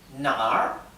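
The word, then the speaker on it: 哪儿: allá yo voy allá ahora si pronunciamos esto con un tono diferente nar nar esto significa a dónde Entonces nar es allá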